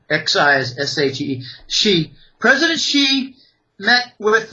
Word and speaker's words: Xi: uh with President xiqin ping president she it's pronounced s he exi s he she president she met with the Saudi economic